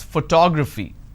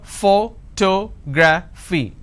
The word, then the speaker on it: photography: I pronounce this as photography how do I pronounce photography and how many syllables do I have here photography four syllables but in this case I stress on the second syllable that is what word